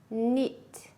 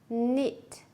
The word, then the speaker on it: knit: Silent is when you don't say, you don't pronounce the silent letter. Now look at the pictures, listen and repeat. Knee, knee, knife, knife, knit, knit, wrist, wrist, right, right, wrong, wrong.